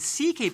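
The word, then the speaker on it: C.K.: note the comedian louis ck is actually part hungarian but the ck part isn't his initials but the pronunciation derived from sike i get it otherwise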